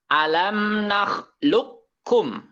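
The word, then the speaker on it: أَلَمْ نَخْلُقْكُمْ: Jadi bacanya alam nakhluqkum. Jadi kopnya tidak dibaca karena langsung dimasukkan ke huruf kaf.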